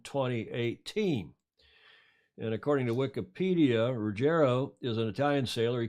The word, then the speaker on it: Ruggero: Ruggero, I had to look, that's how you pronounce it in Italian.